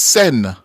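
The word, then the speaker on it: Seine: the name of the river it's the river sent correct biger man biger up man yes it is spelled s e e i n e but it's pronounced sen yes yeah yeah the river sen it's French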